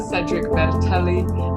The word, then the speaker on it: Cedric Bertelli: We've got Cedric Bertelli. I've been told that is the correct pronunciation, so it is.